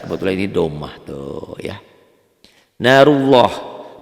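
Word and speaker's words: نارُ اللهِ: Narullah, bacanya seakan-akan ada w-nya ya. Narullah, jangan narullah. Narullah. W-nya ada tapi sekedar lewat doang.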